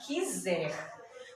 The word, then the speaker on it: quiser: eu tenho a palavra quiser. Quando eu digo esse trechinho aqui, essa sílaba, que, nós não escutamos o som do U, nós escutamos apenas o som do I.